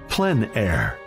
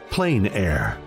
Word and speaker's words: plein air: which means open air or Outdoors the French pronounce it PL air others say plain air no matter how you say it there is